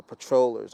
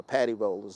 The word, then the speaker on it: patrollers: forces that are are patrollers or paddy rollers as as is pronounced uh uh by some who who have to ensure